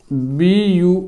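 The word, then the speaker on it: buoy: अब यू ओ आई की आवाज देगा, जैसे कि बी यू ओ आई। इसका अर्थ होता है तैरती वस्तु, तैरती वस्तु। जो इसका उच्चारण होगा वो बाय ही होगा, बाय, तैरती वस्तु।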